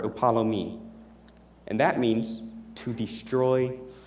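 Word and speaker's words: ἀπόλλυμι: And though my pronunciation may be 120% off, the Greek word for perish is apolumai, or upalomi.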